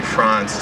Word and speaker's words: Frantz: I have to tell Brittany it's actually France. Just think of pronouncing the name of the country, France, in French.